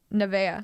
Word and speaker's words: Nevaeh: naming your kid yeah and how do you pronounce that yeah nevaeh nevaeh i had like three nebeas in my